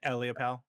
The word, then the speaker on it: Ellipal: Ellipal, is that how you say it? Yeah, Eliopal. Yeah.